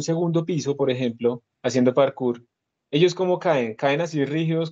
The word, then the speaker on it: parkour: de seguir también explica algunos de ustedes hace parkour así se pronuncia bien así eso es que saltan así